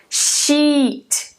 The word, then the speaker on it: sheet: Shit, shit, sheet, sheet, ok?